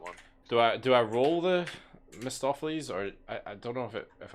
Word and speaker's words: Mephistopheles: how the fuck was I able to pronounce it that time? Mephistopheles.